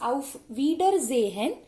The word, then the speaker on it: Auf Wiedersehen: Please note the difference and also the pronunciations. It's Auf Wiedersehen and Auf Wiederhören.